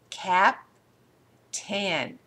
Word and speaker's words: captain: the second syllable mostly cap 10 do you hear the word in Captain has anybody in here